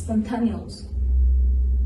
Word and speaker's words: spontaneous: The next spontane. No, it's spontaneous.